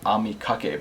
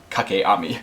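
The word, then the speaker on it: 掛け網: video um I'm sorry I just realized that I mispronounced it when I when I said it at the beginning of the video I think I called it Ami Kake but it's actually the opposite it's K Kake Ami but anyways yeah so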